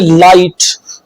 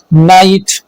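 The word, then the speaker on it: night: चलिए rule number four अगर आई के बाद जी एच आए तो आई अपनी आवाज आई देगी और जीच साइलेंट रहेगा साइलेंट लेटर के बारे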